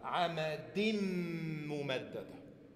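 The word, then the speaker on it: عمد ممددة: Wenn du sagst amadin, dann hörst du ja ein N am Ende. Das ist diese Nunation, dieser Tenuin. Ein Nun am Ende eines Wortes, das nicht geschrieben wird, sondern ausgesprochen wird. Amadin. So, wenn aber jetzt nach dieser Nunation ein Mim kommt, dann fliegt das N weg. Wir sagen Amadim Mumaddada.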